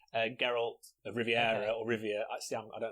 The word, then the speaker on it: Geralt: was Henry Cavill as Gerald gap general and I said it wrong then Gerald geralt Riviera or Rivia I